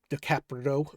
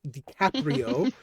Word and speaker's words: DiCaprio: It's Like Romeo and Juliet with Leonardo DiCaprio dicaprito I can't say his name DiCaprio yeah that version was so weird it was